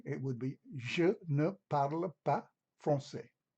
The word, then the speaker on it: parle: Negatively, it would be je ne parle pas français. Note that the E or the E at the end of parle is not pronounced.